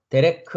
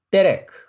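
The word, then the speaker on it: דרך: 그래서 데레크 하면 되죠. 데레크. 네, 강점이 있으면 좀 강하게 데레크, 데레크 이렇게 발음하시면 되고요.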